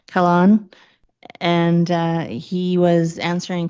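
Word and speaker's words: Kahlon: the Minister of Housing Ravi Calhoun C I say his name wrong Kalan and uh he was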